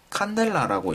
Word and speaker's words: cd: 그래서 이것은 CD, 칸델라라고 읽습니다.